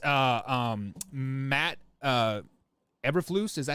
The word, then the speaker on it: Eberflus: Believe it's Matt Eberflus. Is that how you say his name? Eberflus.